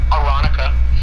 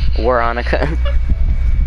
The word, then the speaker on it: Veronica: Veronica is Aronica. Veronica. I even know how to say her name right. I've said it multiple times. I actually used to say Veronica too.